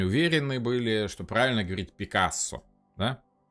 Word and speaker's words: Picasso: говорит: "Вообще-то, как бы у нас в Париже принято говорить Пикассо, потому что ударение в французском языке всегда падает на последний слог Пикассо".